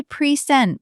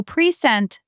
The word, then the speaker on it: present: So present, the second syllable is quick, soft, like sent but shorter.